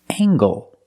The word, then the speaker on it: angle: And this word, angle. With angle, we pronounce the hard G sound. Angle, angle. Use the long A, angle.